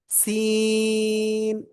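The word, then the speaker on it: س: এই যে অক্ষরটা, জিব্বার আগা, সামনে নিচে দুই দাঁতের পেট ও আগার সাথে লাগাবেন, লাগিয়ে আপনি 4 আলিফ টানিয়ে উচ্চারণ করবেন। কয় আলিফ? 4 আলিফ টানিয়ে উচ্চারণ করবেন। সিন, স, স, এরকম একটু আওয়াজ আসবে কিন্তু।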